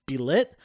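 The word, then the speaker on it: Bêlit: death of i believe her name is pronounced be lit she's a pirate that's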